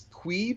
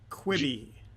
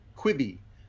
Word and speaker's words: Quibi: This is going to be, it's Queeb. What is the pronunciation? Quibi. Quibi. Yeah. So kind of like quibble, like the multiple of quibble. If you're gonna have multiple quibbles with somebody, you'd have a Quibi.